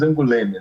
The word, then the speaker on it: Angoulême: Então, o nome da cidade se diz Angoulême, né?